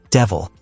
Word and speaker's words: De Vil: Horace steals Estella a new car called a Panther De Vil and points out the similarity to the word devil, though it's pronounced De Vil.